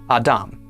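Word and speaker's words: אָדָם: This word is pronounced Adam.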